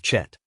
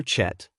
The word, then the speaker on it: chet: Now, the letter chet, which is pronounced with a guttural sound from the throat, or as it is